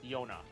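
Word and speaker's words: Jona: I know it's spelled with a J, but it's typically pronounced Yona. At least as far as I know.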